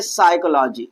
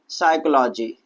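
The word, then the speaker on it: psychology: ये जो हमारा पी है वो कहां आ रहा है? एस से पहले आ रहा है। इसलिए हम पी को क्या करते हैं? साइलेंट करते हैं। पी का प्रोनाउंसिएशन नहीं करते हैं। और यहां पर हम क्या पढ़ेंगे? साइकोलॉजी। क्या पढ़ेंगे भैया? साइकोलॉजी। तो यहां पर हम पी का प्रोनाउंसिएशन नहीं करेंगे।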